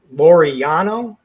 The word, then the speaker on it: Laureano: I just found another nice BVP play that reiterate the Laureano is how you pronounce it, Dean.